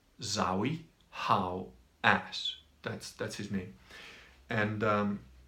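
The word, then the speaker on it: Zahi Hawass: might be spelt a bit different but the pronunciation just trust me in this it's Zoe how ass that's that's his me and he's locked up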